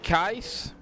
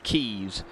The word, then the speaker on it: Keiss: Logan Keiss. I always want to call him Keys. But his last name is pronounced Keiss.